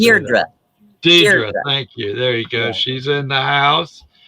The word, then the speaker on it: Deirdre: Deidre, thank you.